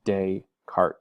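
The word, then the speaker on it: Descartes: another concept it's called dayarts Rule of signs this is a French word it's just day cart you don't pronounce either of these s's uh so we've got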